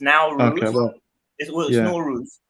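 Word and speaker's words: Nowruz: is that where it says in Iran it's now rules but um the way you spell it is probably the way you can see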